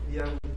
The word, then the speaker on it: IAUI: Pero cuando ponen IAUI, la I se consonantiza. IAUI.